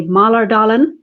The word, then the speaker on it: Mälardalen: The pronunciation of Mälardalen University is a bit tricky. You could say Mälardalen. That's fine.